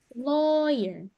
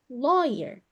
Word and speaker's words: lawyer: journalist journalist pengacara lawyer jadi l aw-nya ini seperti huruf o lawer lawyer Manager biasanya dalam bahasa